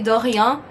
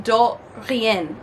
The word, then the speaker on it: de rien: I barely learned how to say de rien a year ago because I was saying do rien because I didn't know how to actually pronounce it because I wasn't hearing people pronounce it.